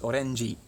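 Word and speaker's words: オレンジ: Yeah, well, and like orange is orenji, has to be a little vowel at the end because they can't end a word on a consonant like j.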